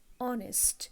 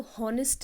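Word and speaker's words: honest: Sincere, ऑनेस्ट, इसको हॉनेस्ट नहीं बोलेंगे, H is silent, you know here, ठीक है, तो ऑनेस्ट पढ़ते हैं, ईमानदार।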